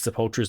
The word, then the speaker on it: Sepultura: Everyone pronounces Sepultura's name differently, right? It's supposed to be Sepultura because a tomb is called a Sepultura.